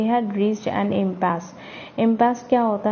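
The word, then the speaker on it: impasse: Paper के एंड में, इम्पास also pronounced as amps. अब इसको हम एम्पस भी बोल सकते हैं।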